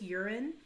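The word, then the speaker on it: Juran: on crosby on 31 urine that's how you pronounce this urine talks about quality planning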